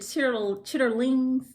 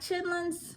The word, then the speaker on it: chitterlings: If you pronounce it chitterlings, then yeah, you're not from the South. But I like chitlins.